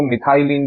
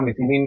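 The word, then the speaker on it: methylene: हो गया मिथाइलिन chloride इसको प्रोनाउंस करने का सही तरीका मिथली क्लोराइड है लेकिन मिथाइलिन क्लोराइड भी बोलेंगे तो भी गलत नहीं है कुछ इसी तरीके से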